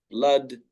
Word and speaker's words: blood: And then there's also the word blood, and there's other words such as blood, which are spelled with double O. So this can be confusing, but here it is spelled as A. It is pronounced as A.